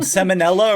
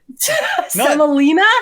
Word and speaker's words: semolina: what cornmeal and some samonella or whatever that what's the semolina Salina not samonella seill I went right in the middle I played in the middle I mispronounced salmonella because it was the